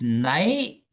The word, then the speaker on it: native: Um, native is native. So we stop right there. We don't pronounce the E.